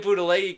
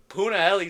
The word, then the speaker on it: Punahele: I keep saying Punalei because of Dax on Sparring Sessions. He said it wrong once, and I've been ragging on him since. Punahele Soriano knocked out Uros Medic in the first round.